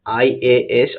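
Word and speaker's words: IAS: আই এএস officer works hard. এখানে দেখো আই এস শব্দটি উচ্চারণ করলে এর প্রোনাউন্সিয়েশন করলে দেখা যাচ্ছে এ আই দিয়ে শুরু হচ্ছে।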